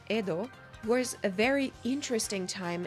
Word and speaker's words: Edo: today known as tokyo ido or more likely pronounced edo was a very interesting